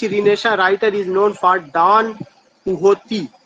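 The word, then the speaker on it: Don Quixote: Question number 53 है, विच रिनेशा writer is known for डॉन कुहोती? वो कौन सा राइटर है जिसको याद किया जाता है? क्विक्सॉट नहीं होगा, इसका जो प्रोनाउंसिएशन है डॉन कुहोते होगा।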